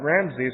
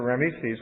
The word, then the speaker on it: Rameses: And it's thought that Ramses or Rameses, which is pronounced both ways, I mean spelled different ways, 2 different ways, is a reference to Ramses II.